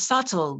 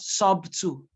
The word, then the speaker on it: subtle: the next word is to you do not pronounce the double you know who are you but who who are you this is subtle not sub two we see it not receipts W album not